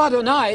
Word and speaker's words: Adonai: You know Adonai. It rhymes with El Shaddai, El Shad.